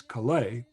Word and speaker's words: Kalei: spelled kala a but everyone including his brother pronounced as kalei after a couple opening tunes they brought out